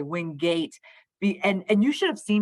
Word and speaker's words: Wingate: So Wingate makes a lot more sense to me. Yes, and win being more prominent, I love that too.